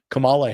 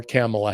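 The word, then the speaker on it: Kamala: They suddenly, you know, installed Camala Harris uh or Camela Harris, however you want to pronounce it.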